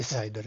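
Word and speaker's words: CIDR: itu kita memakai Saigon yiar bacanya shaider gitu jadi classless interdomain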